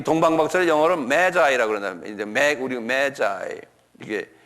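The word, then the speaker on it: Magi: 이락 지방에 사는 이 동방 박사를 영어로 메자이라고 그러는데, 이제 우리 메자이, 이게 메자이라는 건 뭐냐면 매직이라는 말에서 나온 말인데요.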